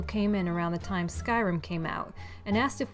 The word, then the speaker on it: Skyrim: He laughed condescendingly and said, "No, I mean Scrim." Thinking he was mistaken, I was like, "Oh no, it's called Skyrim." "No, it's not. It's pronounced Scrim."